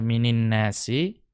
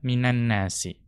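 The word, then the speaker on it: مِنَ النَّاسِ: Ya, jadi tidak dibaca minin nasi, ya, tapi dibaca minan nasi.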